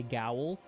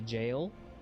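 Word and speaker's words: gaol: Poop, it's spelled, you gotta pronounce it like the same way when you see G-A-O-L, and you want to say gowl, but you gotta say jail.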